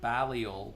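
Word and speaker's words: Balliol: so robot lady I'm talking here let me spell it for you it's the balal poets b as in boy a l l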